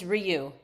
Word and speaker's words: Rioux: And I promise I am never, ever bothered by people mispronouncing my name, but just for the record, it's Rioux.